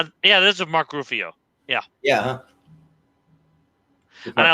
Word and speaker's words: Ruffalo: Although that is not, yeah, this is Mark Ruffalo. Yeah. Yeah. Huh? And I love that I pronounced his last name incorrectly, horribly. Rufio.